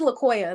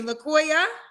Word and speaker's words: Laoa: cute what's your name so it's laoa that's how you pronounce it oh yeah I I knew I probably said it wrong said it wrong okay thank you for correcting me laoa yes lcoa how old